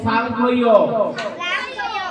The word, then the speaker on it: সাংখ্য: সাংখ্যযোগ। তোমরা তিনজন লক্ষ্য করবা, তোমাদের জন্য বলছি এটা। এটা বুঝে গেছে? হ্যালো, সাংখ্য। সাংখ্যরে সাংখ্য বলছি কেন? মানে দন্তের সাথে থাকলে ছয়ের মতন উচ্চারণ করতে হবে।